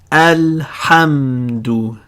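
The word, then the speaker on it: الحمد: Alhamdu. This is a moon letter, ha. It acts like al-qamaru.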